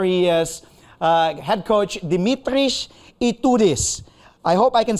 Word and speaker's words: Dimitris: man himself there he is uh head coach Dimitris I hope I can say this right coach